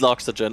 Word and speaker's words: loxygen: It's Loxygen. I am full Team Sawyer here. Loxygen is the right way to say it.